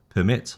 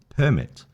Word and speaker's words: permit: Object or object or permit or permit. refuse or refuse, address or address, content or content. So you see the emphasis is the noun, the first syllable, the verb is the second syllable.